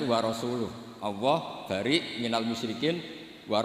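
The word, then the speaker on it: وَرَسُولُهُ: Allah itu terbebas, gak urusan dengan orang musyrik, wa rasulih juga gak ngurus Rasulnya. Kalau sama Rasul saja tidak ngurus, apalagi sama kita. Sama Sayyidina Ali dibenarkan yang benar bacanya itu wa rasuluh.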